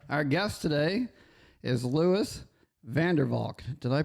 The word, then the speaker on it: Vandervalk: And our guest today is Lewis Vanderwalk. Did I pronounce that right?